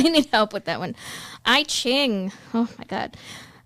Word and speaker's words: I Ching: I Ching. Oh my god, I Ching or Yijing, if I'm pronouncing that correctly, usually translated as a